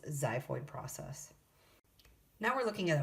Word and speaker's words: xiphoid: It starts with the letter X, but it's pronounced xiphoid process.